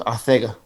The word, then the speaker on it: Arcega: No, it's Arcega. You got to say it like Mike Tyson would say.